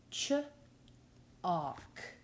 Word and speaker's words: chalk: Our next word is chalk. Ch-ock. Ch-ock. A-L-K says ock.